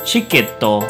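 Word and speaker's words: チケット: For example, the word ticket, even though it has the T-I sound, we're not going to pronounce it that way. We're going to instead use the ch sound. So the word ticket will transform into the pronunciation chiketto.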